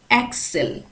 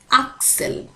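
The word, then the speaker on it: axel: এখানে একটু উচ্চারণের ভিন্নতা আছে ইংলিশের সাথে সুইডিশের। আমরা কিন্তু যদি এটাকে সুইডিশে উচ্চারণ করি, সরি ইংলিশে উচ্চারণ করি তাহলে আমরা এটাকে বলি অ্যাক্সেল, অ্যা, কিন্তু সুইডিশে এটাকে বলা হচ্ছে আকসেল, আকসেল।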